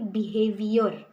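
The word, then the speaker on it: behaviour: For example बिहेवियर, हम English में इसको क्रिस्प बिहेवियर कहते हैं, बट ब्रिटिशर्स इसको बिहेविया कहते हैं, बिहेविया।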